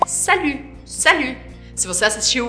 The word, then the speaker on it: salut: E aí a pronúncia é o U do biquinho. Salut, salut, salut.